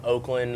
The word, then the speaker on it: Oaklyn: It's not Oakland like the Oakland A's. It's spelled Oaklyn.